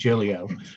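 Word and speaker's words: Giglio: the constitutional standard under gillio that's how it's pronounced julio um is that um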